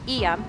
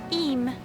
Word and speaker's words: Eyam: here i was saying iam she said a lot of people pronounce like am or i am or something but it's eem simple one syllable so this is the